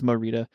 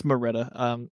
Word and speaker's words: Morita: But it's Morita.